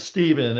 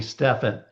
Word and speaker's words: Stephen: Well, my name's Stephen. Sten. I can't tell you how many people call me Stefan. And that's actually correct, but that's not how I pronounce my name. Stefan, right? So, it's that would be like a French name.